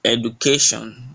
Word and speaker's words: education: The stress is always on the second to the last syllable, just like education. So the ca is more stressed.